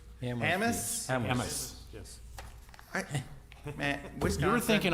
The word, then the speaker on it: Hammes: It's just Hammes. No, this is Wisconsin. If something has an obvious pronunciation, you guys have to pronounce it a little bit differently.